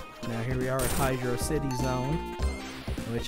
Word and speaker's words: Hydrocity: here we are at Hydro City Zone which how I always pronounced it even though they kind of it's like they put it as one word but I still pronounce it as Hydro City I don't pronounce it